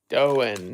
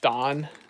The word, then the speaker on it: Doan: Doan, not Don. Oh, okay. Okay, they're Doans, not Dons.